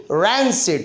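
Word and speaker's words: rancid: तो रन सिड, रैन सिड, इसका memory hint है रन सिड हमने बना दिया, और राइट प्रोनाउंसिएशन है रैन सिड, जिसकी हिंदी है बासी या दुर्गंध युक्त।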